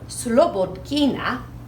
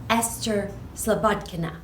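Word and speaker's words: Esphyr Slobodkina: this lady best fear slowpoke kina in the United States a lot of times we say Esther Sobotka nah because we don't necessarily pronounce Russian names exactly the way they're pronounced in Russia she moved here from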